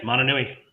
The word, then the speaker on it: Mananui: We got to talk about Tahiti Gill's Mananui. Am I pronouncing that right? Yes, Mananui.